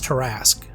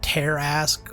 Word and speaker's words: Tarrasque: First, the pronunciation. It's terrasque, not terasque or tasque way.